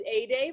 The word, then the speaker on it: Ede: My name is pronounced Ede, like a sunny day.